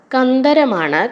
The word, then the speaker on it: കന്ദരം: നയും കൂടിച്ചേരുന്ന ദകളുടെ വ്യത്യാസമുണ്ട് ദകാരങ്ങളുടെ വ്യത്യാസം ശ്രദ്ധിക്കുക കന്ദരം എന്ന് പറഞ്ഞാൽ ഗുഹയാണ് കന്ധരം എന്ന് പറഞ്ഞാൽ ഉച്ചാരണത്തിൽ നേരിയ വ്യത്യാസമാണ് പക്ഷേ ആ വ്യത്യാസമില്ലാതെ ഉച്ചരിക്കുമ്പോൾ